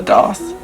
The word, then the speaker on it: daith: It's called a daith. I think it's pronounced technically a doth.